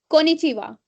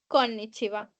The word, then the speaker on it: こんにちは: Then एक और word है, मैं बोलने जा रही हूँ कोनिचिवा।